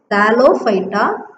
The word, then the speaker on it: thallophyta: Okay, now cryptogam is subdivided into thallophyta. You can pronounce here thal, thal, lo, low, phy, theta. How will you pronounce this? Thallophyta, thallophyta.